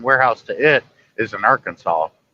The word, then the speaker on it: Arkansas: it I said well you don't say car cans ass do you or Kansas yeah she goes no it's Arkansas I'm like yeah silent s like everybody gets it wrong you know like